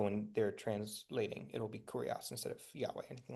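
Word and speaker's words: κύριος: Um, and then remember this is a u that makes an u sound, so kurios.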